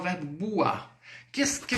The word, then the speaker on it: boire: Boire, lembre-se. O OI sempre o som de UA. UA, ok? Então bateu o olho, deparou ali com a palavra. Com o OI, você já sabe, opa, OI no francês, som de UA do português, d'accord?